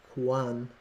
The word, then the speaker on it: QANX: an alert oh it tells you how to pronounce it Quan Quan and what is that qus qus Quan